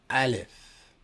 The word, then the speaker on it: aleph: The A in aleph represents a consonant that is pronounced from the back of the throat. Aleph.